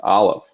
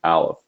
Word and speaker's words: Aleph: if you notice that there is no sound underneath Aleph, because Aleph makes no sound. It is a silent letter.